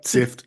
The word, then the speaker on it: Syft: Sift or Sift? With my French, I don't know how to pronounce. Yeah, Sift is fine.